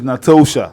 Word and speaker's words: Natosha: not Natasha, it's Natosha. It's Natasha. N-O. There's an O. You're not Nato. T-O. Natosha. Not Natasha. Natasha is N-A-T-A.